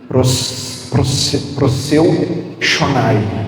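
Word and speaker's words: προσεύχομαι: A palavra mais usada na Bíblia para oração, no original, é uma palavra que a pronúncia é mais ou menos assim: proseu shonai.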